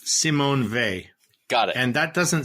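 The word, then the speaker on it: Simone Weil: the source okay okay her niece says it's Simon V got it and that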